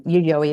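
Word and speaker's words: Yayoi: Um Yuyoi like Yuyoi Kasama um pronounced the same way named after a suburb in Tokyo actually where they made the first significant find from this period.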